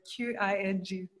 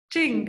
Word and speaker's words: Qing: in the dynasty, I don't know how to pronounce the Q-I-N-G, the word, sorry, the dynasty. So you tell us about Qing, okay, thank you.